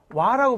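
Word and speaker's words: は: 하히후회오 하자인데 단어 중에는 한데 조사로 쓰이면 와라고 발음한다. 와 조사. 얘는 이제 은는 이런 뜻이에요. 뭐뭐는 하는 주제를 나타내는 조사할 때는 얘를 하 하던 걸 와라고 그래.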